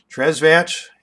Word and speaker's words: Tresvant: baseline nothing but net tresvant tres vance is how the uh how the announcers are pronouncing that so we'll go with tres vance made lemons out of